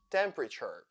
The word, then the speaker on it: temperature: word is silent exhaust temperature t e in these words sounds sure temperature CAU a u g